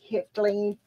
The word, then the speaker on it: Hickling: out oh yeah so it is absolutely pronounced hitling william hicklin president now